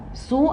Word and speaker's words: sous: Et sous, le S ne se prononce pas.